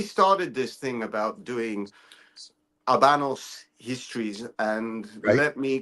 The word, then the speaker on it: Habanos: this thing about doing Abanos histories and let me correct myself and let me put it out there. I have been asked very nicely to pronounce properly. So you don't pronounce the H.